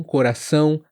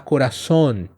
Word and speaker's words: coração: Então, muitos caem no erro de falar coraçon invés de coração.